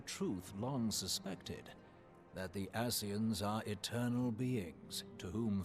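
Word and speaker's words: Ascians: a profound Insight regarding the nature of the asean's immortality it's it's I'm not being funny that's how it's pronounced it's not Asians is that they're called the aseans and they're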